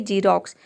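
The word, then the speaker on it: Xerox: Rule number 2 है, यदि किसी वर्ड के शुरू में अगर एक्स आ जाता है तो एक्स को हम ज प्रोनाउंस करते हैं, जैसे कि जीरोक्स। यहाँ पे देखिए एक्स का ज हो जाएगा, ई का हो जाएगा ई आर ओ एक्स, ये हो जाएगा रॉक्स।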